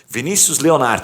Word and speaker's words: Vinícius Leonardo: que que é isso Vinícius Leonardo está correta pronúncia Exatamente é isso mesmo boa depois eu vejo